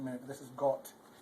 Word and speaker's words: Gott: Gott, this isn't Gott, it's Gott, because they pronounce an O with like an O. O, not like ah.